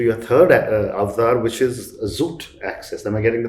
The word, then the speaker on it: Xoot Access: Tiger Marron to your third avatar, which is Xoot Access. Am I getting the pronunciation Right.